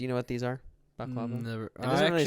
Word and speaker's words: baklava: Baklava.